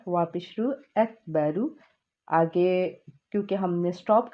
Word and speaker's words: اکبر: حابش ہو، اللہ اللہ، حمزہ کاف زبر اک، با زبر با، اکبر، واپش رو اکبرو۔ آگے کیونکہ ہم نے